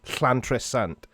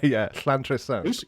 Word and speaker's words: Llantrisant: Yeah, like in the Welsh language, if you see two L's together in a word, so there's a place near Cardiff called, and it's Llantrisant, so it's like a sound.